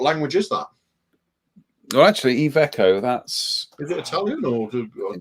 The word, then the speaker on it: Iveco: This is apparently it's pronounced Iveco.